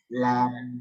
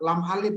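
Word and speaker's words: لا: Nah, ini bacanya la. Dulu Bunda biasanya bacanya apa? Lam alif ya? Ya, betul. Dulu kita kalau belajar lam alif, karena guru kita dari pesisir. Lam alif gitu ya. Nah, yang sesuai sanad dia bacanya la.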